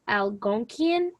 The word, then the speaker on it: Algonquian: the two dominant languages it's called algonquian that's how you pronounce it um those were the